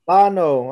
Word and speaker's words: Llano: Isn't it Llano? No, what is it? How do you say it? It's Llano. Llano. Oh, Llano. Yeah, whatever. Llano, Texas.